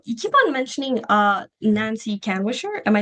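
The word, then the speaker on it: Nancy Kanwisher: So you keep on mentioning uh Nancy Canwisher.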